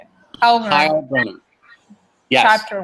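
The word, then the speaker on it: Heilbroner: Heilbronner.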